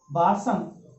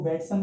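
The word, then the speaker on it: Bateson: प्रयोग किया था किसने, बाटसन, किताब में इसको बेटसन भी लिखा हुआ है, बेटसन ने जो है इसका सर्वप्रथम प्रयोग किया था। अब बाटसन बोलो या बेटसन बोलो, क्योंकि तो ये जो है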